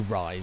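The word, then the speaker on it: Rhys: If you're called Reese and your name is spelled R-H-Y-S, you need to go and change that shit. That is literally Rise. It's not Reese.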